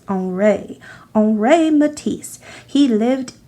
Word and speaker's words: Henri: he's a French artist you might think his name looks like Henry but in French it's pronounced on Ray Oh ray Matisse he